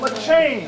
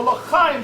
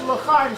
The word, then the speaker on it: L'Chaim: And somebody tells me, no, Cory, it's the L'Chaim Society. And I said, are you clearing your throat, or is that how you pronounce the word? And he goes, no, it's L'Chaim Society.